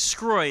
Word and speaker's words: Sgroi: My last name is Sgroi. It's an Italian last name. And it's only 5 letters, my last name. It's spelled Sgroi.